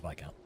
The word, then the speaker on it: Viscount: I think I'm almost positive this is supposed to be Viscount. I don't think the S is pronounced. Pretty sure it's Viscount.